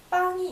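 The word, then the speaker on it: pain: 우리나라에 밥이 있다면 프랑스에는 빵이 있습니다.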